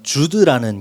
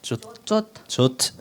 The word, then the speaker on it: зуд: 그리고 저번에 한번 말씀드렸지만 주드라는 게 있다 그랬잖아요. За өмнө нь би хэлжсэн зуд гэдэг зүйл болдог гэж хэлжсэн. 정확한 발음이 조트.